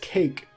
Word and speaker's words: KK: It's pronounced cake.